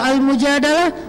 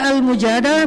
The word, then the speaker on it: Al-Mujadalah: Kalau Al-Mujadalah, curhat. Jadi tergantung kita bacanya dilah atau dalah. Kalau kita baca Mujadilah, berarti perempuan yang lagi curhat. Kalau kita baca Al-Mujadalah, berarti curhat itu sendiri.